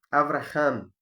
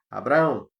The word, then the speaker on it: Avraham: Domingo passado nós fizemos uma introdução e falamos um pouco da vida do personagem Avraham, é o nome original dele, e nós, aportuguesados, nós chamamos o nome dele, pronunciamos Abraão.